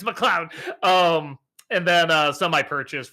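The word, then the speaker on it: MacLeod: It's McLeod.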